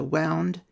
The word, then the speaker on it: Warna: The author is emphasising a difference in the spelling between Warna and the pronunciation which is W-A-U-N-D.